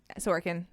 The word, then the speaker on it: Sorokin: Alexander Sorokin. Sorokin. Is it Yep. Alexander? Yes. That's spelled differently.